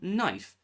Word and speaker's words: knife: Of course, it's not knife. It's a knife. K is a silent letter in this case.